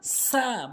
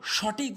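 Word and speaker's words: ثاء: এরপরে হচ্ছে সা, সা ভুল উচ্চারণ, সা ভুল উচ্চারণ, সঠিক উচ্চারণ হচ্ছে সা। সা, জিহ্বার আগার সামনে দুটি দাঁতের আগাতে লাগাবেন। জিহ্বার আগা ভালো করে বুঝবেন,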